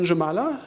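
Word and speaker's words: Jūrmala: because I stayed in jamala jamala it's pronounced Uma is pronounced the J is like a y but you're in Germany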